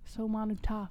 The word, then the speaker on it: Seumanutafa: All right, so they're back up to defeat as Seumanutafa, because I don't know how to say his name. Seumanutafa? Oh, maybe it is Seumanutafa? Seumanutafa. It could be Seumanutafa. Oh, Seumanutafa. Not Tufa, Tafa. Manutafa. Seumanutafa.